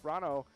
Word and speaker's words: Rano: 6th place, we've got Crystal, Kenny at the Alabama Gilbert in 7th, Rano, Rhymes with Bono at the Main Street Bar in Hopkins in 8th place, and KPP now in 9th place.